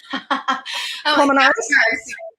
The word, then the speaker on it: Colmenares: Did I pronounce it right? Colmenares? Yes, Colmenares. I don't roll my R's, so.